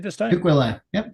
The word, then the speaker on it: Tukwila: Tukwila. Yep, Tukwila. At least as far as I've been told. Yeah, I usually butcher the heck out of that sucker.